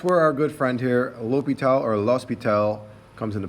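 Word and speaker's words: L'Hôpital: an s both are accepted i generally say l'hopital's rule but sometimes it looks like low speed tiles rule or hospitals which is not the correct pronunciation but i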